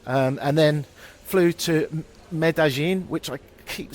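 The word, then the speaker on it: Medellín: and then flew to medin which I keep saying wrong I'm sorry I think it's spelled medalin but I think the two L's become a a sort of y g I don't know medin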